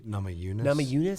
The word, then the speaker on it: Namajunas: Namajunas. How do you say her last name again? Namajunas.